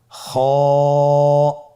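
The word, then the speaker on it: خاء: খ হরফটি হলো মোটা হরফ, উচ্চারণের ক্ষেত্রে মোটা হবে। ছবিতে দেখুন খ হরফটি কীভাবে উচ্চারণ করতে হবে। খ হরফটির মাখরাজ হলো কণ্ঠনালীর শেষ ভাগ হতে উচ্চারণ করতে হয়, কণ্ঠনালীর শেষ ভাগ।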